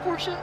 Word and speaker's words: Porsche: and uh there's the Porsche name yes it's pronounced Porsche I don't care I think I said that